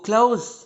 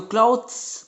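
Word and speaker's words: clothes: But actual में अगर आप इसको क्लोज बोलेंगे तो वो ज़्यादा बेटर रहेगा.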